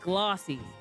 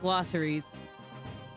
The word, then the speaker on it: glossies: It's pronounced glossies, not glosseries.